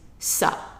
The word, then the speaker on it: ça: So now it is ça, ça. So you see here that it looks like a little 5 ender. That makes the C sound be pronounced as a S sound, not as a K sound.